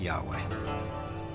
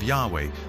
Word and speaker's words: Yahweh: and his name was these four letters which in English would be YH wh which we think were probably pronounced something like Yahweh but Yahweh only appears